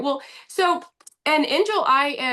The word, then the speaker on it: Injil: Well, so, and Angel, am I pronouncing your name properly? Yes, enjoy.